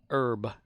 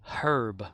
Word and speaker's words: herb: say like for the the word herb which we you know it's spelled h not H but H because we say h here e or B and we leave off the H as a silent letter but in other countries like England and Australian stuff they you they say herb with the H sound and whenever they pronounce